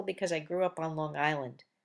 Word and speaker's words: Long Island: I grew up on Long Island pronounced longland which clearly demonstrates to